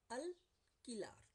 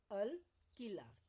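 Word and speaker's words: alquilar: Rent is called अल किलार। अल किलार। Here you is silent.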